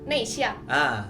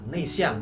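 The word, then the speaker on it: 内向: Nah, kalau introvert kita bacanya Nei Xiang. Nei Xiang.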